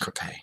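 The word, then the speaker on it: crêpe: The EE vowel combination in that part of France, this is in kind of the Provence region, is pronounced with a short sound, cra, like cra, not E, and then the Y has an A sound.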